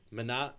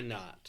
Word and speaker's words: Minot: You say it quickly. Minot, Why not? Why not? Minot. Yes. Minot. Like So, rhymes with why not?